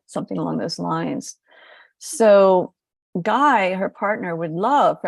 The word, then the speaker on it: Gui: other people about him I call him guy and I just spell it GUI because mother Gaia has